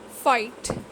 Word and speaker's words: fight: Silent GH. Night, light, fight. Same is the case here also. GH is not pronounced at all here.